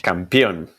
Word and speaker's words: campeón: Campeón. Campeón. Okay. It's not championa. as you wrote it in your notes.